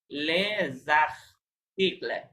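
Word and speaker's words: les articles: Suppose এটা এরকম, right, শব্দটা এরকম, তাহলে ওই যে এসটা মাঝখানে আমরা পড়েছিলাম যে মাঝখানে এস থাকলে কি হয়? জ এর মতো উচ্চারণ হয়, জ। তাহলে লে জাখ, জাখ মানে জয়ের সাউন্ড আসবে, লে জাখ তিকলে, লে জাখ তিকলে উচ্চারণ করবেন এরকম, কিন্তু একসাথে লেখা যাবে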